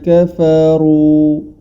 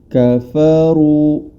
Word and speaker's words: كفروا: Huruf ra berharokat dhammah, maka cara membacanya dengan ditebalkan huruf ra tersebut. Kafaru, dikarenakan huruf ra ini tebal, maka yang perlu diperhatikan huruf setelah dan sesudahnya, yang mana huruf fa dan huruf waw. Hati-hati jangan sampai terseret ke sifat tebal, tetap pada porsinya, yakni tipis.